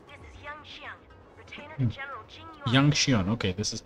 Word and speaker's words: Yanqing: Yanqing, okay, this is how you pronounce his name.